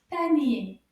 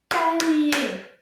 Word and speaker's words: panier: Let's see if we can count how many syllables. Combien de syllabes dans le mot panier? Panier. Oh, panier. Trois syllabes.